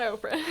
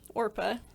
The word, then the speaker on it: Orpah: So there is a famine in a land, and these 3 women, Naomi, and then Orpah, is that how you say it? Orpah, yeah. Orpah. And Not then, Oprah. Not Oprah.